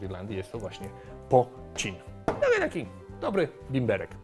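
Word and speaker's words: poitín: whisky, tylko ten produkt nazywał się pocin. Tak to się wymawia i możecie kupić coś takiego w Polsce.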